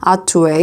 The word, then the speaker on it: Hatuey: 스페인어 라서 H 는 묵음 이고 , 그래서 하투에이 (Hatuey) 라고 불리며 , 쿠바 맥주 브랜드 입니다 .